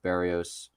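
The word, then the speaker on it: Berríos: I mean against Barrios, which I found out you pronounce it Barrios. Actually, I've been saying Is Barrios. it? Because I've been Yeah, saying Barrios I've been since saying like Barrios my 2017.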